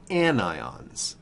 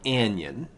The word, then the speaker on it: anion: you a negative charge these ions are called anion not anion and certainly not onion an ion and the prefix and